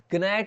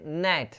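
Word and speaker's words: gnat: अब देखते हैं नेक्स्ट, नेक्स्ट देखिए इसमें जी साइलेंट रहेगा, जी साइलेंट, जैसे कि यहाँ पे आप ग्नैट नहीं पढ़ोगे, इसको क्या बोलोगे, नेट, नेट मतलब होता है मच्छर या छोटा कीड़ा, ठीक है।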